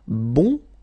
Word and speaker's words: bon: So bon will become bun. Okay. So the sound is changing quite much because here you've got this nazal bon. Okay. And then bun.